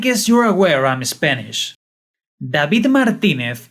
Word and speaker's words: David Martínez: “David Martínez” is the actual name pronunciation, but I’ll stick with the “David” experience to keep the series’ coherence.